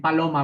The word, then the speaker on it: paloma: Fíjate bien, está en paloma, vamos a ver paloma. Si la palabra fuera aguda, se pronunciaría paloma, es decir, que la fuerza sería en la última sílaba. Se pronunciaría paloma, paloma, sube en la última, paloma.